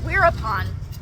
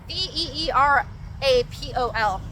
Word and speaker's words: Wirapon: Perfect example is Wirapon. Wirapon. This is spelled on Wikipedia and like all these places. He spells it this way as Virapol, right? Veerapol. But it's pronounced Wirapon.